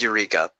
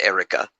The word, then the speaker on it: Eureka: It looks like Eureka, but trust me, it's pronounced Erika.